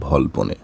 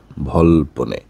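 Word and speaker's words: Volpone: বলব নাটকটির নাম হচ্ছে ভলপনে ভল্পনে অনেকে ভলপন ভল্পনি ইত্যাদি ইত্যাদি বলে সঠিক উচ্চারণটা হবে ভল্পনে এটা এই নাটকটার রাইটার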